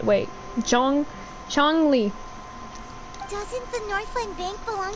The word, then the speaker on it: Zhongli: Zhongli.